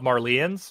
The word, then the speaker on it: Marleyans: The Marylands or Marlins. How do you pronounce them? Yeah, so they say in the dub Marlians.